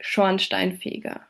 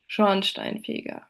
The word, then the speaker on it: Schornsteinfeger: Compounds have a primary stress at the beginning of the first word and a secondary at the start of the second part of the compound.